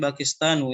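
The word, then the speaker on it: باكستانُ: is maksurb ini bakistan ini bakistanu ya cara bacanya bakistanu asalnya Kenapa dia tidakatain ya karena dia khusus ya karena dia khusus bakistan dia khusus tidak boleh tanwin nanti ada beberapa kata-kata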